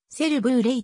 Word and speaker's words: セルバレイ: していますこのブランド名はせるブルーレイと発音されますスペイン語でジャングル